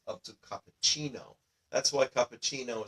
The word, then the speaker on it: cappuccino: That's why cappuccino is pronounced with a CH sound in it.